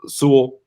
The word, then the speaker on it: Sewell: It's Surtain, it's Horn, it's Sewell.